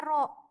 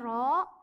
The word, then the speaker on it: rho: Ini lambang besaran turunannya dibacanya rho. Hurufnya memang seperti P tapi dia beda. Ini dibacanya rho dan lambang satuannya kilogram per meter kubik.